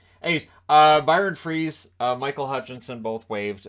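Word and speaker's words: Froese: Byron froze or freeze freeze right yeah um just I went to school somebody with that last name we always pronounced it froze now I realized we were all wrong hey uh Byron freeze uh Michael Hutchinson both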